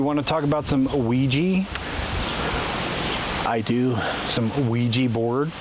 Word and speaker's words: Ouija: I think about it in French. Because oui, O-U-I, yes in French.